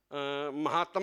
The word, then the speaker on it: महात्म: बहनों बोल सकते हैं अभी महातम में शब्द का उच्चारण सुनने में आया महातम में शब्द नहीं महात्म है हमें इन शब्दों के